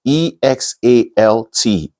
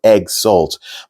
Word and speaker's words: exalt: you know it's pronounced e-x-a-l-t and you know you pronounce it if you pronounce it on the face value the way it's spelled it will go egg salt but the oral English